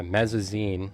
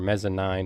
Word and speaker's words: Mezzanine: Uh Mezazine or Mezzanine depending on you want to pronounce it.